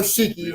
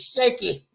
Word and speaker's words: Shaky: okay you got it it could be cheeky no ain't no cheeky it's shaky all right so now